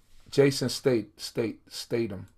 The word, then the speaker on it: Jason Statham: I forgot the name of the movie, but yeah, Jason Statham.